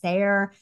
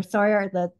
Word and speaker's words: Sawyer: And I'm probably pronouncing her last name poorly, but I keep trying to say Sayer or Sawyer, and I'm getting it wrong. So we're going with Sawyer, like Tom Sawyer, because it's easier for me.